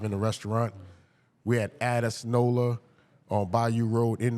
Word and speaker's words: Addis: Addis. You gotta put a little bit of chest in.